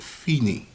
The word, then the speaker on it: fine: Fine bar line, used at the end of the musical composition, pronounced fine.